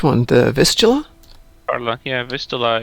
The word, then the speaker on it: Vistula: Yeah, Vistula is how you pronounce in English that. Name of a main largest river in Poland. Ah. Let's see. I was thinking it was Fistula, and I'm thinking that's really technical.